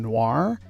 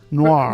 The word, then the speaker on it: noir: Noir. Rip, rest in peace. Yeah. Last week we listened to his supercut of the genre. So yeah, sometimes 2 syllables, sometimes 1. Okay, why don't you read?